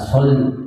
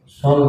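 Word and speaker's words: صلِّ: wa al sayidina Muhammad dia bacanya Salah Pak Allahumma SH ala Muhammad bukan sholli tapi shall ala muhammad wa ala ali Muhammad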